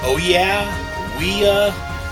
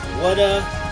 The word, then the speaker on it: Ouya: I found this, I don't know if you pronounce it Ouya, Wada. It's Ouya, but these aren't cheap.